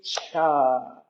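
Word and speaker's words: Chih: And we're here to do Tai Chi Cha Cha. That little word is pronounced cha like chuck wagons.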